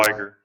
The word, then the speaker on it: Liguros: Fun2, Liger OS, Pin2, which is Liger or Liger? it's spelled Liguros, capital L, lowercase I, capital G, lowercase U-R. Liger. Liger OS? Like the lion tiger.